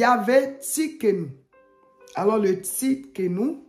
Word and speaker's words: Tsidkenu: comment ça s'écrit Tienou t s i d k e n u donc souvent u ça se lit ou voilà dans les autres langues donc on écritu mais